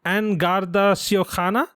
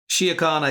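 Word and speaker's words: An Garda Síochána: And Garry was kind enough to help me understand that the actual pronunciation is Angarda Síochána. Síochána, yeah, very good, yeah.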